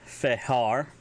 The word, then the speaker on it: vhehar: If you want to say crawl, it's fehar. Now, I know that's got a F sound to it, but it's actually spelled Vhehar. Fehar.